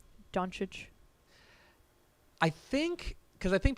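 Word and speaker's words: Dončić: don't think we have I think it is technically like donic like I think the O is such the reason I say that is if you go back to draft night Adam Silver pronoun pronounces it like donic and he is usually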